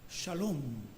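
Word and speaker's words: שָׁלוֹם: palabra griega irene subyace una idea hebrea muy antigua que debiéramos pronunciar salhón y el salón no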